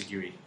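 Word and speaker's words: Sigourney: It's pronounced Seguri. Is it? No. Seguri Weaver. Seguri Weaver.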